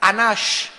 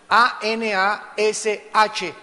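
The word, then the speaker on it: אנוש: Y la palabra perverso es la palabra hebrea anash, A-N-A-S-H, anash, y significa incurable.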